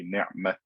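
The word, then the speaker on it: نعمت: So if I stopped for Hafs, for example, I would say ni'mat.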